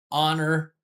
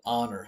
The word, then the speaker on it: honor: guys don't know that we usually pronounce that word honor with a silent H. We don't pronounce the H there. Um yeah, we just say honor like that.